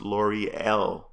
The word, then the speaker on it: Lore'l: it lore'l lore'l okay your name is pronounced lore'l okay thank you all I